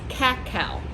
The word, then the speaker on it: cacao: So the name of the fruit of this tree is cacao. So it's spelled C-A-C-A-O, and from that's where we get the word cocoa.